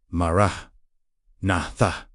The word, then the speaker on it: Maranatha: Pronounce it exactly like this. Mara natha. Four distinct syllables.